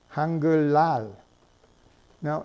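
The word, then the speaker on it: 한글날: five hundred seventy years right you know that's pronounced hunger loud now notice that you're spelling it with an Ian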